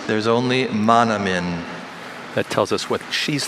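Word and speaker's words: manomin: Monomin is M-A-N-O-M-I-N.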